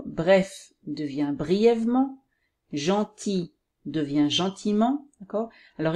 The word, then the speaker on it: gentiment: devient brièvement gentil devient gentiment encore alors il ya elle qu'on ne prononce pas l'adjectif masculin singulier dans